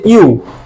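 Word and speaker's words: ㅠ: হবে ইউ এটা বেসিক্যালি অনেকে উচ্চারণটা ভুল করে ই উচ্চারণ করে ই আসলে এটা ইও না এটা হচ্ছে ইউ ইংরেজিতে ওয়াই ও ইউ ওয়াই ও ইউ ঠিক সেইম এই অক্ষরটার উচ্চারণ হবে ইউ সুতরাং সুতরাং এইটা যদি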